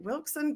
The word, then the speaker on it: Wilson: I was like, Wilson, but yeah. No, Wilson. The locals pronounce it with a T between the L and the S.